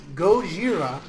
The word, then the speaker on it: Gojira: Gojira, which is the original term, and Godzilla was a mispronunciation, but it's how we say it in America. Gojira means gorilla/whale, or whale that walks upright like